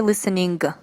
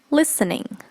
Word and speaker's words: listening: the IELTS examination that's listening listening we don't pronounce the g at the end we don't say listening many people say listening that's not right so